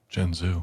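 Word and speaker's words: Jianzhu: Jen Zoo. Jenzu, you're going to watch her when I'm not around.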